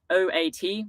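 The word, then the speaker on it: Haute: oat root begins so oat is not o a t like the milk that us vegans drink no it's oat as in ha Au u t oat why does France have so many silent letters I don't know but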